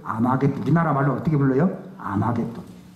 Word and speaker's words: 아마겟돈: 아마겟돈. 이걸 헬라 말로 옮길 때 먹잇도라는 말을 발음을 그렇게 못하기 때문에 아마겟돈 이렇게 해버립니다.